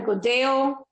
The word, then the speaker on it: Godello: I had a Godeo, which is spelled Godello, from Ribera Sacra in Spain.